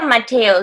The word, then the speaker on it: Mateo: How do you pronounce Mateo? Is okay? Yeah, Mateo.